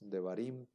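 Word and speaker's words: דברים: En este caso es un sheva simple, móvil, que sí se va a pronunciar porque va al inicio de la palabra, y entonces en lugar de decir devarim, en lugar de decir davar, que significa palabra, ahora decimos devarim, que significa palabras.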